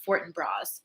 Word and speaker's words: Fortinbras: up the pronunciation of fortinbras and apparently it is with the s at the end you have used it